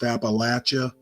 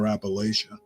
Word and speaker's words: Appalachia: to say it's pronounced Appalachia but you can actually pronounce it either way and I just prefer Appalachia um but anyway this